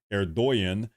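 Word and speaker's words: Erdoğan: Erdogan is how you pronounce his name, I believe.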